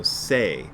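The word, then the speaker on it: 性: meaning hotoke or buddha the next one is pronounced sho in this case and also say and one of the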